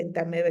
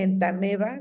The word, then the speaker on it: Entamoeba: la Yardia lamblia, la Entamoeba histolítica. Recuerda que se dice entameba, no se dice entamoeba. Aunque tenga la O, no se pronuncia, ¿ok?